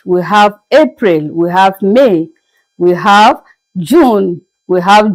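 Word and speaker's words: mai: May as you can see sounds the same as it is being pronounced in English except that the spelling differ with just I at the end. In English we have Y at the end. May but in French it is may. The same pronunciation but the spelling differs with the I and the Y.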